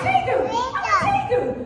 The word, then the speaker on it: tegu: I'm a tegu. Hi, I'm a tegu. It's spelled T-E-G-U.